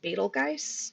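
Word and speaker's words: Betelgeuse: film um and it can also be pronounced betelgeist which I I don't like as much but it's actually Arabic a lot of the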